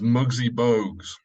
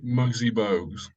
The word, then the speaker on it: Muggsy Bogues: Oh, the correct pronunciation for the basketball player, for Gwen's reference mainly, is Muggsy Bogues. Yes. Okay. Muggsy Bogues.